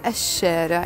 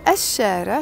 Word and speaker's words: الشارع: When I add the ash sound, it's written L in Arabic, but we pronounce it ash because the word starts with a sh.